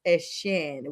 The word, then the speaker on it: Etienne: He is now going back to the Bayou State, and he is Etienne, which is how the French and Creole call it.